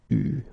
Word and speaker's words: eu: Okay, you write it like that, but you pronounce it eu.